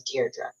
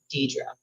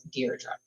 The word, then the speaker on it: Deirdre: You have to say it right. It's Deirdre. Because I did know a woman named Deidre, but it's Deirdre. I was pronouncing it wrong for a long time too.